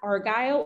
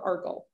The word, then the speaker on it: Argyle: the big crossover diamond we call that Argyle or Argo you can hear it pronounced both ways okay that was a